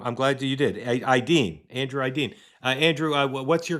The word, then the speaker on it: Aydin: Say Aydin, but my Aydin. father. Did I mispronounce it, is what you're telling me? Close enough, man.